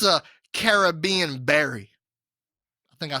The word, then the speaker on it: Caribbean: So it is Caribbean berry.